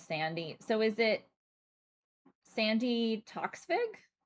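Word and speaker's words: Sandi: Her first name is pronounced the same as Sandy.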